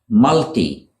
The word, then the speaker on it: multi: Next, we have multi, as in multinational. A multinational company, for example. Multi is the British way to say this word. In America, they pronounce it multi, with a long I sound.